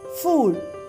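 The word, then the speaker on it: fugl: In Danish, bird is fool. Fool. We can say bird as fool in Danish. So everybody repeat it. Fool.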